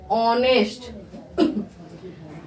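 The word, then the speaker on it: honest: गया कैसे हो गया तो इसको हम लोग नेस्ट ना पढ़ के क्या पढ़ेंगे ऑनेस्ट ऑनेस्ट ऑ ठीक है क्या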